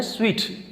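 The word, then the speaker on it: suite: तो वो होता है स्वीट इसको लिखा जाता है एस यू आई टी आई लेकिन उसको हमने सूट नहीं कहना इसका एन स्वीट हमने होटल में स्वीट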